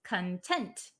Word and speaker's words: content: Um so this one content has a different pronunciation. The one that we're talking about today is content. The one that means happy or satisfied is content.